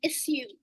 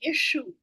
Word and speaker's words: issue: Sometimes you hear people saying issue, and some people say issue. Yes? Now, why is that? So one is British and one is American.